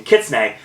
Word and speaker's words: kitsune: connection that goes through kissne I'm using pronunciation thank you Wikipedia for the uh pronunciation kitsne which is a Japanese